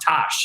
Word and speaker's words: Tosh: Tosh from the Ethereum Foundation, it's pronounced Tosh.